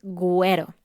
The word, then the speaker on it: güero: puntos sobre la U, que es una diéresis, güero.